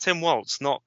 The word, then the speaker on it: Walz: I think it is pronounced Tim Waltz. It's with a w, not a v sound.